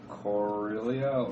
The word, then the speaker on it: Corellia: On Corellia.